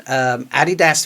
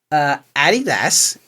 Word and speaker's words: Adidas: Adidas is named after, Adidas. I know that's what you call it, but I'm just trying to say it like you say it in my head.